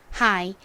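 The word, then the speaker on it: high: 그래서이 단어를 읽어 보면요 가장 앞에 h n 히 소리가 나고 아는 여기서 I 소리가 나고 gh 묵음으로 소리가 나지 않아서 다른 은 하이가 됩니다 하이 따라해 보세요 하이 하이이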